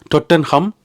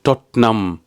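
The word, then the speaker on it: Tottenham: ஆனா அங்கிருந்து ஆட்கள் சொல்லுச்சுன்னா இது டொட்டன் ஹேமும் கிடையாது டொட்டன் ஹேமும் கிடையாது டொட்டன் ஹம்மும் கிடையாது அப்படியே கிடையாது இதனுடைய பெயர் வந்து டொட்னம் டொட்னம் கோட் ரோட் இதுக்கு ஹாமும் கிடையாது ஹம்மும் கிடையாது டாட் நம் என்று நம்மலதான் முடிக்கணும் என்று சொல்லி இங்க லண்டன்ல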